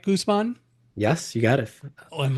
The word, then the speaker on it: Guzman: And am I pronouncing it right? Guzman.